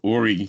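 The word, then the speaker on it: Horry: of that whole County aie County spelled with an H so I'll let you go where you want with that joke um but uh ory county was like 35,000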